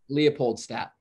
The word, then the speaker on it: Leopoldstadt: Leopoldstadt. Okay, it's quite hard. It's quite hard to pronounce, I feel like.